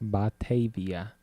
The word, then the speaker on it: Batavia: We have a correction on the pronunciation. Jerkface in the chat room used to live there. It says it's Batavia. Batavia.